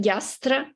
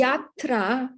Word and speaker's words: यात्रा: pronounce it? Yastra? Yatra. It's feminine.